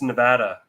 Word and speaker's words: Nevada: the other way um that's how they get about Nevada and it's Nevada Nevada not Nevada about that there Nevada yeah it's Nevada apparently I feel like so